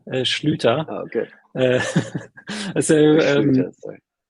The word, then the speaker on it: Schlüter: Yeah, so you pronounce it perfectly, Schlüter.